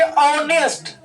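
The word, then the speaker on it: honest: Word में बोले थे कि जब उच्चारण करने में साउंड क्या आ जाए, वॉवेल साउंड आ जाए, तो आर्टिकल एन का भी प्रयोग करते हैं। इसको पढ़ेंगे ऑनेस्ट। क्या पढ़ेंगे? ऑनेस्ट।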